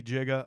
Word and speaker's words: giga: So it could be giga or giga.